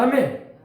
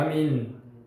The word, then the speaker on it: 아멘: 아멘. 그래서 아멘으로 시작해서 아멘으로 찬양이 끝나요. 아멘이라는 말은 이제 히브리어로 아민이라고 해요. 아민이라고 합시다. 아민. 우리는 아멘 그러는데 영어 발음이 원래 에이멘 해가지고 아멘이라고 발음이 되는데 우리는 히브리 발음으로는 아민.